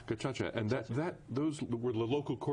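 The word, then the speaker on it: gacaca: genocide right this was it's pronounced gacha gacha and that that those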